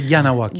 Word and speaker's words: Kahnawake: Mais c'est Kahnawake. Kahnawake. Puis ça, c'est un mot Kanien'kehá:ka dans notre langue, c'est Mohawk. Donc, il faut que vous prononcez le H, puis les K comme un G.